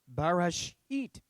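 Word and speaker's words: בראשית: this all right and that word is barash eat okay in english we translate that in the beginning but really there's no the on there so really literally it's in beginning okay rush eat if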